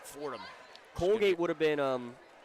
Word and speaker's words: Fordham: section by the way Fordham University foreign it was two syllables it was red red school yeah it sounded right thank you Miss Flannery